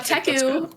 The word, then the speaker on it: Teku: Also, Teku rhymes with Deku, so it is an anime.